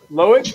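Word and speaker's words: Loïc: How do you pronounce that guy's first name? Loic.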